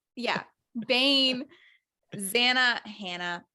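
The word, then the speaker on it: Zannah: Bane, Zanna, Hannah. It's just It's Zan. It's Hannah with a Z.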